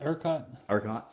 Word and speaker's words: ERCOT: ERCOT?